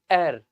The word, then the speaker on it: heir: very easy actually see many students may get confused that air has H in the beginning so a should be used but n here is absolutely right because the pronunciation of this word is error this is the pronunciation okay this is the pronunciation okay the pronunciation of this word is air and uh article a